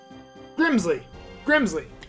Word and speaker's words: Grimsley: Grimsley.